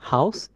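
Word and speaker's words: Haus: ও একসাথে বসছে, যেমন হাউস। এক্ষেত্রে আর ও একসাথে হলে এটার উচ্চারণটা হয় আও, এরকম টাইপ। যেমন হচ্ছে হা, আ, ও এস, হাউস।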